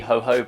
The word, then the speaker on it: jojoba: my favorite is actually jojoba oil which is spelled with a j as opposed to an h but this is incredibly